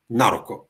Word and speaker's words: на руку: Naruko, with the stress in the first syllable, with the stress in the preposition, which is normally unaccented with many other words.